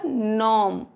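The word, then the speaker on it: gnome: अगर कोई वर्ड जी से शुरू हो रहा है तो वो जी साइलेंट होगा। क्या पढ़ा जाएगा? नॉम, नेट, नो।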